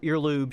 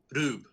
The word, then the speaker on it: R/B: Yeah, so it's pronounced Rube, but it's about two brothers, Rosso and Blue. So red and blue. And they're brothers. There's two Ultraman, etc. So it's written out Ultraman R/B. Mm-hmm. It's pronounced Ultraman Rube. But as the way Japanese works is the L's and the R's are the same letters.